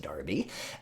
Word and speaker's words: Derby: named Joseph Wright of Darby I know it looks like Derby it's pronounced Darby and Joseph right here